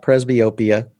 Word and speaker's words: presbyopia: we're about to talk about, or what is presbyopia?